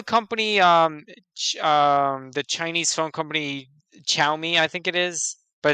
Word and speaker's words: Xiaomi: know the company, the Chinese phone company Xiaomi, I think it is, but it's spelled Mm-hmm. like Xiomi or whatever. Xiaomi, Xiaomi, Yeah. Xiaomi. Yeah, so it's Xiamo.